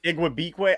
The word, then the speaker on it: Igwebuike: Igwebuike? Yeah, how do you say that? Yes. There you go. Igwebuike.